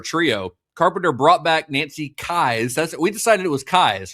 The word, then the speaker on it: Kyes: Yeah, I feel like I've heard them say Kyes. Last episode, I definitely said Keys, but yeah, I mean, I just assumed that's how it was pronounced. Kyes is how it's spelled. So Kyes, I guess, makes sense, but I guess we were saying it wrong.